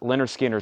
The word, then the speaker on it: Lynyrd Skynyrd: gatefold this is 38.99 Lynyrd Skynyrd pronounced Leonard Skinner 38.99 Kevin doxey wants